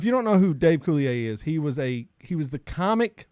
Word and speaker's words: Coulier: Coulier.